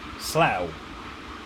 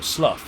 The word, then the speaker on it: Slough: more people to support Slough there it's pronounced or Slough if you want to be really you know stupid and annoy people at conference now 84 miles now